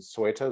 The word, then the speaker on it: Ceuta: One of the, I think you've started to talk about, is it Ceuta? Is that how it's pronounced?